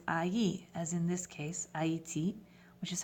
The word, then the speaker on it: Haïti: But if you add un troisième, AI all of a sudden changes to AI, as in this case, Haïti, which is how you say Haiti in French, because when you add the troisième to the second vowel, you've added another syllable.